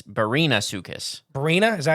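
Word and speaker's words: Barinasuchus: was our oh oh wait it's not Brian it's Barina sucus Barina is that how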